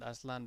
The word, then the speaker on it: Aslan: Yeah, I call her Aslan because Aslan is I pronounce it Aslan because it just means sorry, lion.